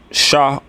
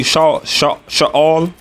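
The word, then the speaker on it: שְׁאוֹל: That word hell, as pronounced in the Hebrew, is Sha'awal. All right. Sha'awal. Some brothers say Sha'al, but if I'm pronouncing it correctly, it's Sha'awal.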